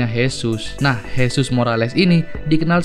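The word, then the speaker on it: Jesús: Kan tulisannya Jesus. Tapi kalau dalam bahasa Spanyol nih guys, Jesus dibacanya Jesus.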